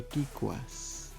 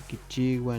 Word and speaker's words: kikuas: Por ejemplo, aquí dice kikuas, no pronunciar kichigua ni otra cosa.